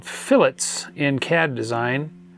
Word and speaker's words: fillet: curved Corners in Tinker CAD these are called fillets in CAD design it's spelled like filet but pronounced like fillet um